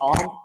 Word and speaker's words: Om: Om is like a local name here in Thailand, so which is pronounced like ORM, like ORM in one word, like Om, something like that.